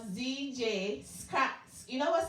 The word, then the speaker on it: Zjscratchy: So this young man on my telephone line is called Zjscratchy. You know what? Say your name. It's Zjscratchy. Zjscratchy. You cannot say the S. The S is silent?